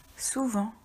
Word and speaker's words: souvent: Souvent. Attention, il y a un T muet à la fin du mot.